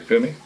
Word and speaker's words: Fumi: lena underscore f-u-m-i did i say it right femi yeah yeah my grandmother's name my middle name